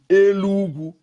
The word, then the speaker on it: Enugu: They call Enugu, we call Enugu, Elugu. They call Enugu, we call Elugu. It's different tongue, the way we pronounce it.